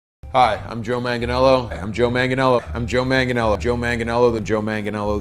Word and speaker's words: Joe Manganiello: hi i'm joe manganiello i'm joe manganiello i'm joe manganiello joe manganiello the joe manganiello